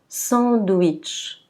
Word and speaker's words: sandwich: Par contre, quand la lettre W est placée au milieu du mot, elle va être prononcée W. W. Donc on dira sandwich.